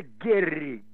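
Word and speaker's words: Gerry: Фамилия Герри произносится Герри, Герри.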